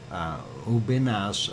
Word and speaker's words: Ubinas: uh and I'm not sure if I'm pronouncing it correctly but it's ubinas it's a u b i n a s